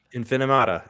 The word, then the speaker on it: Infinimata: I'm not entirely sure how to pronounce that either. Yeah, Infinimata. Infinimata, exactly right.